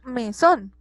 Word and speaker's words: mesón: En este caso, mesón. Mesón está compuesto de dos sílabas, me y son. Tiene el acento en la última sílaba, por ende es una palabra aguda, ¿cierto?